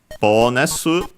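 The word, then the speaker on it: ボーナス: rest of the sentence, bonus, from bonus in English. Let's check its accent, but should be on the, yes, like in English, so on the bonus at the start.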